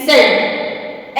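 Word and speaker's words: scent: number four पे मतलब सी कहां पे साइलेंट प्रोनाउंस करता है अगर अगर सी के पहले अगर सी के पहले s हो तो सी साइलेंट होता है जहां पर एस के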